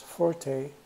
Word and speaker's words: forte: And it's pronounced as forte. And it's an Italian term, means loud.